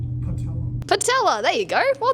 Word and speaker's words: patella: It rhymes with Nutella. Yes. I forgot. That's okay. Anybody else? I'll give you a hint, it starts with an P. Patella.